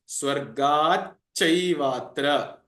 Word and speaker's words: स्वर्गाच्चैवात्र: The actual split is Swargat and Cha Eva Atra. So together, after this Sandhi, it becomes Swargat Chaivatra.